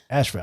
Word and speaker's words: Asheville: Asheville. I'd say it's Asheville. That's how you say it. They had to put the E in there so you don't say Asheville.